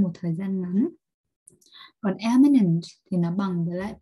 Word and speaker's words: eminent: Hai từ này thì nó có cái đuôi minent giống nhau, thế nhưng mà cái cách đọc thì khác nhau, một là imminent và hai là eminent, và nó đều là